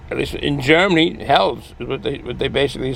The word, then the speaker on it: Helles: Basically, when I was in Germany for a short while, half a year, compliments of the United States Army, and it was pronounced Hell's.